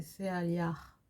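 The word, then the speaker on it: Sealiah: Alors, excusez-moi, mais le H en général, je sais qu'en français, quand on parle que français et des langues latines, on n'arrive pas à prononcer le H qui est très léger. C'est Céaliar. C'est pas le Ra de Ra prononcé, c'est vraiment le Ra très léger.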